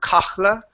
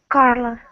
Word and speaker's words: Carla: is the name Carla give me a good are instead of a Portuguese are its car Carla instead of Coppola Carla okay Carla good Carla thought the